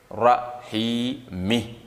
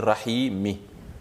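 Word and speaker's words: الرحيمِ: va lire Bir rahmanir Rahimi donc au lieu de dire Rahim on va dire Rahimi parce que avant d'appliquer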